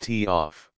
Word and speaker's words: TOF: delay off timer sometimes called a TF pronounced tof it is important to